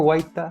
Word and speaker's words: Guaita: libro La caravana de las Flores Don guaita searle está bien pronunciado el apellido perfecto no solo